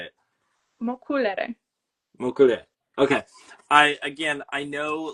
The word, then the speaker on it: Mocculere: I know it's backwards, but pronounce this one for me the way that you would say it. mokulere.